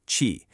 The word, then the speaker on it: qi: It's called qi, pronounced qi.